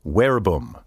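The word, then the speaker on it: verbum: come from the latin wherebum word by the way wherebum is spelled v-e-r-b-u-m but in classical latin v is pronounced like w from the latin wherebum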